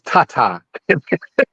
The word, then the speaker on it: Tata: it wrong you're saying it wrong it's it's Tata that's why it's it's t it's thank you